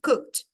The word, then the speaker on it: cooked: Cooked. Você vai pronunciar como se fosse isso aqui. Cold. Como se esse E não existisse.